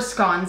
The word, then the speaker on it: scones: heard in the UK you can pronounce it scones or scones and it's a regional thing is that right please